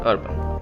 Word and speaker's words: URBN: Now moving to the next product on our list is power bank from Urban, or you can spell it as URBN. I will call it Urban.